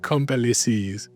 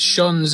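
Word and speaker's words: Champs-Élysées: How do you say it? Comply it can't be el comply. It's it's shanz. It's shanz for the French premiere.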